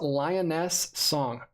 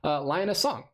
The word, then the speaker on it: Lioness Song: By the way, my name is pronounced Lioness Song. Thank you. I finally got it right. I've said it every other way possible. Lioness Song.